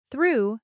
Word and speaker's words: through: Though has that O sound like in go, but through has the oo sound, like in food.